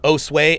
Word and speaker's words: Josue: um uh I'm sorry how do you pronounce that is it us uh Josue Josue okay gotcha gotcha gotcha okay thank